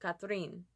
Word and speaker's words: Catherine: I said, your name is Catherine, but with your accent, it sounds like Cathrine.